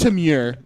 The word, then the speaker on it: Temur: it's Timur.